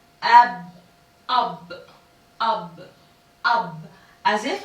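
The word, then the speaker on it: أب: Together it is pronounced ab, ab, ab, ab.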